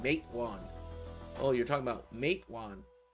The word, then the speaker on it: Matewan: Like I have to say it's pronounced like this, not like that, because I was saying Matawan, which is the way people were saying it. It was saying Matewan.